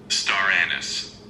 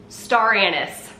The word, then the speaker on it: star anise: And there's an ingredient it calls for that I've always called it star anise, which apparently is the UK pronunciation, but I just went and looked up the US pronunciation. Are you ready? Star anise. Star anise.